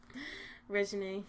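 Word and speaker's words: Reginae: How do you say his daughter's name? Regine. Yeah. She's beautiful.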